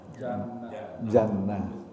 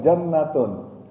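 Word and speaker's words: جنة: Kalau dia disambung bacanya jannatun. Misalnya jannatun naim, misalnya jannatun naim. Nah, itu jannatun naim. Ini kalau disambung bacanya jannatun naim, ada taknya. Tapi kalau dia berhenti, maka taknya hilang, diganti dengan ha, hanya ha besar.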